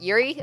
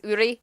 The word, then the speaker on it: Uri: I kept on pronouncing it like the American way of Yuri, although I knew it was Uri, because I'm learning Japanese, kind of.